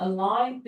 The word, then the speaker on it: aligned: 이번에도 G가 발음 안 나죠? aligned with.